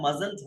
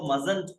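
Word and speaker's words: mustn't: मजंट हो जाता है। इसके अंदर टी पहले वाला जो है वो साइलेंट होता है। इसको मजंट पढ़ा जाता है।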